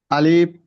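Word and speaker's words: ألف: শিন দাল আলিফ হামজা আলিফের ক্ষেত্রে লম্বা করব না ভাইজান আরে একটু খেয়াল করি আলিফ আলিফ আলিফ আলিফ আলিফ আলিফ বাতাস বাতাসটা আলিফ এভাবে যাবে না আলিফ উচ্চারণ শেষ করবেন তখন মাঝখানে একটু হালকা পরিমাণ ফাকা রাখবেন ফাকা রাইখা সরাসরি বাতাস চালু রাখবেন আলিফ আলিফ আলিফ আলিফ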